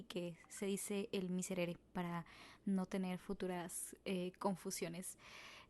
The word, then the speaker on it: Miserere: mitre de Becker pero en realidad no se llama el Míster se llama el miserere lo que pasa es de que pues es más sencillo pronunciar el mísera y pues así se quedó en mi cerebro pero no en realidad es el miserer entonces cada vez que